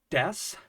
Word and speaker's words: です: the case of Des I never pronounce the U at the end of the word it sounds more like Des like an S sound